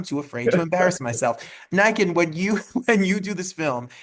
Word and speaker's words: Nican: Nican, like a N- lichen, or a Ken doll with Nikes. Nican.